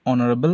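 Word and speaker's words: honorable: Mister Roy is dash অনারবল ম্যান। তো এখানে যদি অনারেবল সাউন্ড আমরা উচ্চারণ করি আমরা দেখতে পাচ্ছি এখানে এইচ যেটা আছে তার কোন সাউন্ড আসছে না এটা সাইলেন্ট তা আমরা শুনতে পাচ্ছি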